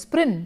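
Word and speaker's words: Prynne: is why her name her surname is sprin to rhyme with sin now let us look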